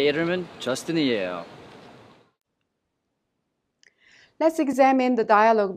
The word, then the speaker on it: 이름은: The final consonant M in the second syllable 름 of 이름은 is prolonged to the next syllable 은, so we pronounce it 문.